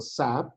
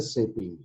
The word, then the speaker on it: SAP: have to know that it should not be pronounced as a SAP it was a say P why because in a shaping each and every letter having their own meaning that's why it's not a single word it was a combination